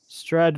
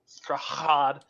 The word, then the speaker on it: Strahd: Just he forgot to pronounce the hard H. Oh, of course. Strahd. Strahd.